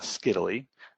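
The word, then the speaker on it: scytale: So the first image, so on the left, is called a steadily. I like to say that it rhymes with Italy, and this thing comes up in basically every kind of encryption overview webinar.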